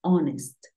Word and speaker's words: honest: Pero hay algunos casos, como cuatro palabras, en las que la H es muda. Por ejemplo, hour, que es hora. Tenemos honor. Y tenemos honest.